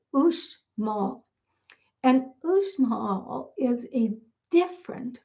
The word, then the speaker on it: Uxmal: And looking at it, you would think it would be pronounced Uxmal, but it's not. It's Uxmal.